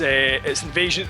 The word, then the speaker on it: INVSN: or something like that, it's spelt INVSN, almost like kind of text speak kind of thing. INVSN, basically. Yeah. But it's Invasion.